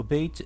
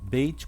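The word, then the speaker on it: בית: O Beit ele pode ser pronunciado como B ou V. Ele será Beit quando ele tiver um ponto aqui no meio, né, chamado Dagesh.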